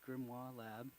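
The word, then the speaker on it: GrimoireLab: do you pronounce uh no Grim minori gri Grim moir lab the grimo is uh the Grim ra grimo lab uh Deployable within a closed cluster uh it's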